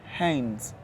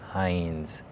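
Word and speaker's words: Heinze: hey this is my son how do you pronounce his name Hines Hines it sounds so exotic yeah hind it's spelled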